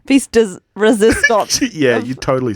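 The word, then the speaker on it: pièce de résistance: This is Phoebe's piece does hang on, let me say it properly. Piece does resistance.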